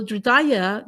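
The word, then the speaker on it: हृदय: Hridaya, this H sound is not being pronounced like it's a hush sound. So Hridaya, that means the heart mind.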